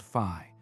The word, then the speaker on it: phi: This measure is called fi pronounced like the Greek letter.